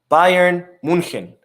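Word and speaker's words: München: Munich which I just learned that it's actually pronounced Bayern Munchen so anyways lero sanez contract is set to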